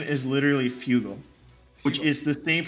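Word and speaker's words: Fugo: call him so no his name is literally Fugal which is the same pronunciation for Fusion which is Frugal shulkan yeah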